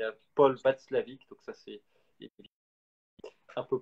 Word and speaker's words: Watzlawick: standards, il y a Paul Václavic, donc ça c'est un peu plus subtil comme référence, c'est inorthographiable, mais je vous le donne quand même. Donc ça s'écrit Watzlawick, mais surtout le livre que vous retrouverez facilement.